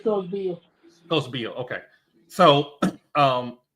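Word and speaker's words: Beall: I want to say her name right cuz it's spelled b e a l l so I thought originally was B but I maybe beill is that right yeah it's co beill co beill okay so um because the very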